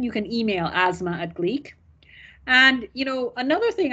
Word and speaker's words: Gleac: introverts etc you can go and download the gleek app it's spelled g-l-e-a-c in the google play and app